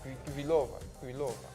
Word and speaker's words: Kvitova: Kvitova.